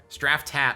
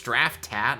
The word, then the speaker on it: Straftat: Straftat. Oh, it's Straftat, not Straft-at?